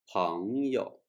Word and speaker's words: 朋友: The original tone of the second character in this word is the third tone. It's pronounced 有, but in this word, it's pronounced in light tone. 朋友.